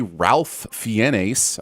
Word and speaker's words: Ralph Fiennes: First, it's clearly Ralph Fiennes. I mean, learn to pronounce things.